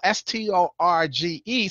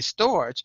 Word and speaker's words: storge: number 5 on the list and that's spell sto rge so at first I thought I'm gonna say storage but it's pronounced storage a storge and it's familial love